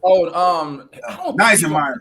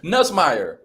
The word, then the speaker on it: Nussmeier: So Neisenmeyer. What? I'll be having a hard time pronouncing his name. Nussmeier.